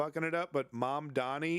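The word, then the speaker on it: Mamdani: It's Mom Donnie. Mom Donnie. Mom Donnie. It's not that hard.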